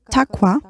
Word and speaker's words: taqwa: Yes, in Arabic, this term is pronounced as taqwa, and it is translated as God-fearing.